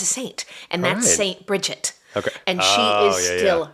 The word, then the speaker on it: Bridget: so you know if you're talking about more of like an Irish um pronunciation it's Bridget and that's the goddess